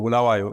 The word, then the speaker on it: Bulawayo: So I was born in Zimbabwe's second largest city called Bulawayo. And, or Bulawayo, as I should say, if I try to say it correctly.